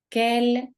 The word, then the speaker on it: quel: Quel, quel, quel. La prononciation est la même.